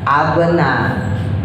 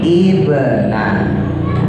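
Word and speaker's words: ابنَ: Nah, maka harakatnya bukan abna ya, bukan ubna tapi kita harakatin kasrah. Ibna.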